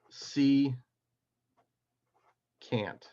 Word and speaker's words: secant: this is called a secant all right you pronounce this as C can't okay and so for